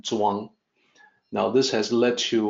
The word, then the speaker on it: Zhuang: It depicted Zhuang using CH with the notation that it is supposed to sound like Zhuang.